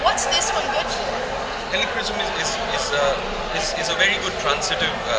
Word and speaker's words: Helichrysum: And that, pronounce it again. It's Helichrysum. Helichrysum.